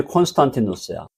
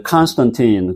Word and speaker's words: 콘스탄티누스: 그 사람이 콘스탄티누스야. 영어로 이제 컨스턴틴 그러는데 발음이 다 달라갖고 그다 우리는 그냥 원문 발음으로 그냥 갑니다.